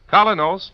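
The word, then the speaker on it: Kolynos: get the new colonos in any drugstore tonight it's spelled k o l y n o kinos toothpaste you've been listening to Mr Kean Tracer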